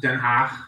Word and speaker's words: Den Haag: And because The Hague is pronounced Den Haag.